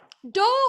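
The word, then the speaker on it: dough: Well, do is spelled out as D-O-U-G-H.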